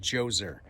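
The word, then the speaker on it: Djoser: let's talk King joser has a DJ o something like that but pronounced joser he was the first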